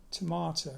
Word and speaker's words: Tormato: Tomato. It's spelt Tormato because there was a rock formation in Devon called Yes Tor, T-O-R.